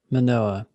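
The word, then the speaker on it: Mānoa: Okay, so how do you pronounce this school? Manoa.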